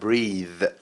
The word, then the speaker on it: breathe: وطبعا الاسم منها التنفس او النفس نفسه اسمه breath، يبقى ننطقه breath اخره ث، لكن هنا breathe عندك لونج اي وكمان ذ.